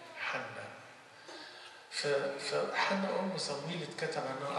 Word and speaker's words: حنة: هي في اللغة العربية تتنطق حنة مش حنة، حنة.